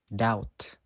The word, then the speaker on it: doubt: example Climb come now the letter B is also usually silent when it comes before the letter T for example that doubt next the letter c